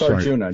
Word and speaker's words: Arjuna: it's a-g-u-n-a-j-u-n-a right yeah it's arjuna just like the classic indian myth i thought that might have been pronounced with an h sorry that's all right